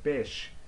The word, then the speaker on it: beş: Alright, so here, let's see here, beş, beş, beş. This is number five, so we say beş. But maybe pronunciation can help you bash here.